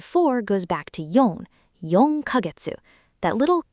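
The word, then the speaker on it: 四ヶ月: Yong kagetsu. That little c you sometimes see written small isn't pronounced k.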